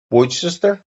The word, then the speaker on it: Worcester: Pronounced as Worcester. Worcester. Give us a packet of Worcester flavour. Alright, something like that.